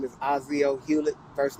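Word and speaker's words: Aucio: thank you good morning america my name is ozio hewlett first name you spell it a-u-c-i-o last name h-e-w-l-e-t-t uh my company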